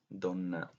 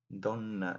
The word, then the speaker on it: donna: way what kind of very Italian Don it's pronounced exactly the same way it means woman you know right so